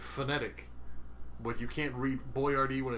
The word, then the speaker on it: Boyardee: In fact, a even more easy to read sort of breakout. That's BOY-AR-DEE. Boyardi is right next to it. Literally an inch away. Yeah, but this one says Boyardi. His name, it's pronounced the same way.